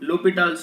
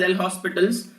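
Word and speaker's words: L'Hôpital: this is actually called l'hopital's rule it is written as l hospitals h and s is silent so it should be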